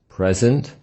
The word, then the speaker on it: present: Two-syllable adjectives: present, heavy, noisy. Two-syllable nouns: present, record, object. Two-syllable verbs: present, record, object. That if we stress the first syllable of the word present, it will be a noun, which means it is a gift, or an adjective, the opposite of absent. But if we stress the second syllable, it becomes a verb, to offer.